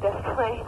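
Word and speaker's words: Des Plaines: Death Plains, yeah, Illinois. Right. How do you spell that? D-E-S. Right. P-L-A-I-N-S. Oh, Death Plains, right. It's actually the plan, I think, but they call it Death Plains.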